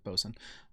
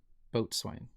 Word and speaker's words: boatswain: Basically, it's bosun. Formally and dialectally, also boatswain.